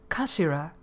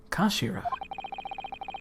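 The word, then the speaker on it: 頭: of the hilt yes it's written head in japanese but it's pronounced as kashira i believe fun fact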